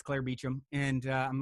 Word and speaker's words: Beauchamp: ancestors how they spelled it but that still pronounced Beecham and so I'm watching it I hear them